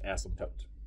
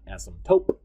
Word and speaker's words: asymptote: actually say it is asymptote you do not pronounce the p at all it is not asymptote it is not asymptote i'm just goofy and